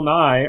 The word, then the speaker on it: Nighy: I think they're both just pronounced Bill Nighy. Oh, okay. Just in then different spellings. Different spelling. Name, but like same pronunciation.